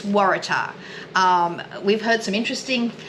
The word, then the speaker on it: Waratah: It's Waratah. We've heard some interesting pronunciations of that recently, but that is how it's pronounced, just in case anyone was wondering.